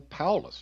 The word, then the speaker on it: Paulus: It would be very, very similar it would be Lester, or Lester, and then Paulus, just really Paul with a U-S on the end.